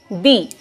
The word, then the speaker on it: the: तो जब कोई वर्ड वॉवल साउंड से स्टार्ट होता है, हम उसके पहले बोलते हैं दी। For example, दी एंड, we never say द एंड, दी एंड। दी ice cream and before consonant sound, जब कोई वर्ड कॉन्सोनेंट साउंड से स्टार्ट होता है तब हम बोलते हैं द। For example, द कैट, वी कैन नॉट से दी कैट, इट्स द कैट।